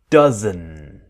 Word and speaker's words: doesn't: doesn't but what happens the D is silent it disappears so we want that strong n dozen dozen and it will